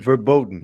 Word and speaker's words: verboten: Um did I say it right? Verbot or verbotton? Verboten. Verboten.